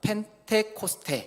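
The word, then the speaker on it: Πεντηκοστή: 오순절을 우리 헬라어로 읽으면 펜테코스테 이렇게 발음을 하고 영어로는 펜타코스트라고 읽습니다.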